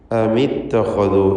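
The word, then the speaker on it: أمِ اتَّخَذوا: അമിത്തഖദു എന്ന് വായിക്കുന്നു. ഇത്തഖദു എന്ന പദത്തിലെ ഖാഇൻ്റെ ഉച്ചാരണം തടിപ്പിച്ചുകൊണ്ട് സ്വരഭാരത്തോടെ ആയിരിക്കണം.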